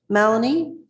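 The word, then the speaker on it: Mallonee: Welcome, Justice Malanie. Am I am I pronouncing your name uh correctly or incorrectly?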